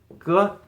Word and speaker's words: 歌: This is ge, but this means song, right? 唱歌. This is a song, so this component is a phonetic component here, and it's usually pronounced something like ge.